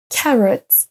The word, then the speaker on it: carrot: trois mots à l'écran carrot work focus dans aucun des trois cas vous n'avez entendu un o on ne prononce pas le premier mot carotte comme on le ferait en français on ne dit pas